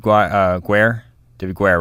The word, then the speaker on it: Guare: All right, and then Guare, right? That's how you pronounce it. Yes, that is it.